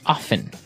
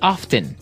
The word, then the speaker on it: often: people like to pronounce often right they kind of leave out the strong T sound while other people say often that's right both forms